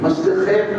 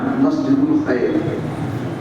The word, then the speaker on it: مسجد الخیف: اور اس کا نام ہے مسجد الخیف۔ مسجد الخیف، مسجد خیف لوگ کہتے ہیں اپنی زبان میں، اس کا صحیح تلفظ میں نے بتایا مسجد الخیف۔ اب اس کی ایک